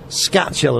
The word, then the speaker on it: Skachill: studio with us and that is um says Scott chill and I pronounced that right yeah that's right yeah and